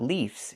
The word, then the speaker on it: leaves: The singular form is leaf, but the plural form is not leaves, it's leaves. We use the letter V and pronounce it v, plus the S making a Z sound like in zebra. Leaves.